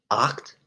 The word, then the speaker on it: acht: is Sieben Sieben ages acht acht eight is important because when you say acht that's fundament the CHT is crucial in German and it's